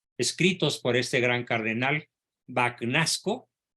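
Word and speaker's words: Bagnasco: por este gran cardenal vacunasco O tal vez se pronuncia en italiano bañasco sí Y dice Espero que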